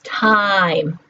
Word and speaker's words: time: If you now think about it, we don't pronounce the E, right? The E is silent. It's called a Bossy E because it's telling us how we have to produce the vowel I.